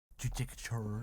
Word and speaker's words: Judicature: You definitely didn't say that right. Nope. Judicature. I'll never say it right.